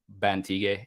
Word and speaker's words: Bantigue: It's I always get that because the Montague is very Mhm. popular, so people would see the GUE, but it's actually more of a Spanish background. So when you pronounce Okay. it like Guerrero, it's like the ge is like Bantigue.